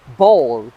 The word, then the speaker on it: bowl: هذه الكلمة بزاف ناس ينطقوها باول. باول شغل صحن، بصح في اللغة الإنجليزية ينطقوها بول. بول.